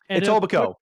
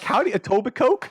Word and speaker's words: Etobicoke: mississauga store uh uh i always pronounce the frog etobicoke yeah what he said i used to call it the first time i saw it i was like howdy toby coke like what is that for